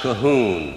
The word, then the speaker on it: Cajun: Cajun, generally spelled C-A-J-U-N, pronounced Cahoon in Mexico.